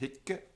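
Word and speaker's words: hicce: But even without the E on the end, it's still pronounced hicke and hocke. The consonant is long. How do you have a long consonant? You go like this. Kke, kke, hicke, hocke. It's like hick, hock.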